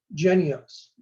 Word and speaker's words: Jynneos: about the monkey pox vaccine which is called genios it's spelled j-y-n-n-e-o-s j-y-n-n-e-o-s but pronounced genios the vaccine is manufactured in denmark and distributed